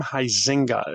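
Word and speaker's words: Huizenga: Um that's Harm Heisinga is how you pronounce that last name.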